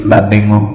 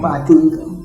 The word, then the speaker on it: Badingu: She can't pronounce my local name. It's Badingu. Badingu.